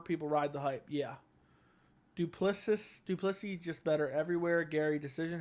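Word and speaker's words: du Plessis: It's pronounced Duplessis.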